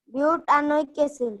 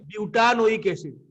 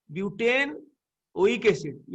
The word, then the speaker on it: butanoic acid: कह 2,2-डाइमिथाइल butanoic acid ब्यूटानोइक एसिड संधि हे गेले कोन हे गेला butanoic acid हाँ ब्यूटानोइक एसिड ईटा कटि गला माने तार उच्चारणटा चेंज हे जिवो ब्यूटेन ओइक एसिड ईटा कटि गला ब्यूटानोइक एसिड कोन आउतरे को 2,2-dimethyl